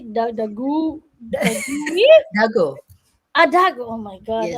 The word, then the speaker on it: Dagoe: Dago.